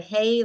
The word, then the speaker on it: hey: right now we're learning the H you can spell it hey like ha a y h h e y